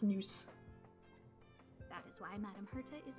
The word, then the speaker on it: Nous: Okay, it is pronounced Nous.